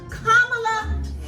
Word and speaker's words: Kamala: party, Miss Kamala, say her name correctly, please, Kamala Harris.